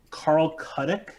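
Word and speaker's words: Carl Chudyk: Carl Cuddick. There you go. Let's Thank say you. I'm pronouncing that right.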